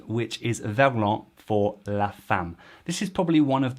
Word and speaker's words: femme: how fam became muf the last syllable is m if fully pronounced fam and they've taken that